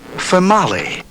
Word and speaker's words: Female: he calls phonic names, names pronounced differently than they are spelled, like Femali. That doesn't tell you much until you realize it's spelled f e m a l e, like female.